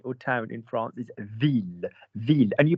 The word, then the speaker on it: ville: The word for girl is fille. You don't pronounce the L's. The word for city or town in France is ville, ville, and you pronounce the L's.